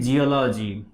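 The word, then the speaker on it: geology: এবং এরপরে আমরা দেখি আরেকটি জিওলজি, ওকে, জেনারেল, জেন্ডা। তাহলে এই শব্দগুলো সবসময় কিসের মতো? জয়ের মতো উচ্চারিত হচ্ছে।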